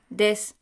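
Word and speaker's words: です: For example, the present tense form of the copula to be in polite colloquial speech is pronounced des, but spelled desu.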